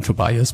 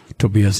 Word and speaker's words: Tobias: You might call him Tobias, but Tobias is a little bit more perfect.